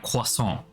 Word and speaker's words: croissant: pronouncing it wrong that we're supposed to pronounce it like it's pronounced by the French we are supposed to say like quason and it just doesn't